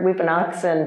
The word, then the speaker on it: wiphunakson: And so Weepinoxen Naga Amagas is the pronunciation of that. And I love this word Weepinoxen because it means feather shoe.